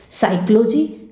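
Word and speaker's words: psychology: साइकोलॉजी। साइकोलॉजी में P जो है वह उच्चारित होने से रह गया है।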